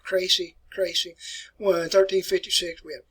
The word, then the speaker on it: Crécy: All right, I'm going to pronounce these for you. It's called Crécy.